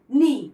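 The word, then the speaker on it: know: তাহলে কে এন ডবলই নি। এখানে এন থেকে উচ্চারণ হচ্ছে এনডবই নি। কে এন আই FE knife কেটা সাইলেন্ট থাকছে এন আই FE knife K এন ওডব নো কেটা সাইলেন্ট থাকছে এনডব ন এন আইটি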